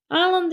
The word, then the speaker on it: island: 더 그다음에 큰이었으니까 플라스틱이라 플라스틱 그다음에 섬은 아ond드 s는 무음 소리가 안 나서 아이가 아니고 아런드라고 읽어 주시면 되고요.